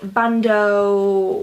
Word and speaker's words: bandeau: So it's basically a bandeau.